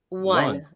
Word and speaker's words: won: How do you say win like the past tense? One. W-O-N. Sounds like O-N-E.